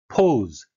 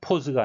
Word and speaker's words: pose: Pose, 발음에 유의하셔야 되겠는데요. Pose가 아니고 pose, 이중 모음이 되겠습니다.